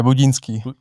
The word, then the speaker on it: Budínský: Adam Budinski. That's how you pronounce your last name, right? Yeah. Budinski. Budinski. Budjinski. It's like the long I.